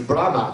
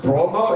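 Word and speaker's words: Bråmå: It reads Brahma to us, but I understand that it's pronounced Bromo, if I don't butcher her name.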